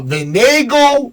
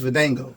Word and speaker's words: Vango: Uh Vengo barbecue. Did I say it right? It's It's Vango.